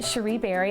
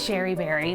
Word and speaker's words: Cherie Berry: I am Cherie Berry. I'm oftentimes confused as being known as Sherry Berry, but pronunciation jokes aside, I am the CEO and creative director of Cherie Berry Paper and Design.